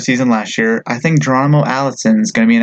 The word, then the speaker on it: Geronimo: Geronimo. Okay, and Alice. Yeah, it's like a cannibal, Geronimo.